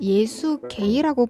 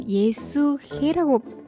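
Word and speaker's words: Есүхэй: 그래서 이제 몽고에 해는 목 깊은 곳에서 이제 목을 좀 긁으면서 소리를 내 줘야 돼요.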